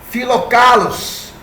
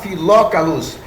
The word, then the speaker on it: Filocalos: O dia 25 de dezembro aparece pela primeira vez no calendário de Filocalos. Ou se você quiser falar Filócalos, mas não tem nenhuma acentuação, tá? E é assim, eu preferi pronunciar como está escrito.